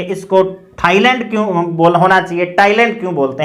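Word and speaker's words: Thailand: अब ये थाईलैंड और थॉमस नहीं है, ये टॉमस और टाइलैंड है। इसका हमने ट्रांसक्रिप्शन किया है ओ टॉमस, टॉमस। इसी प्रकार से ये देखिए टाइलैंड, नॉट थाईलैंड, टाइलैंड।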